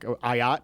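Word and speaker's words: Ah Yat: Montana's quarterback, Ayat, is that how you pronounce it? Ayat, yep.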